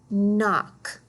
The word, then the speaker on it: knock: notice the KN remember the K is silent you just hear that mmm let's read this word knock next one okay here